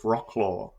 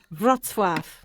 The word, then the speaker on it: Wrocław: He was from the town of Wrocław, approximately 100 kilometres away.